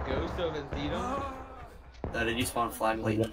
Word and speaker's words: Antietam: Ghost of Anaheim, hosted by 4th New Jersey. Yep. Sure. We'll call it that. Anaheim. Antietam.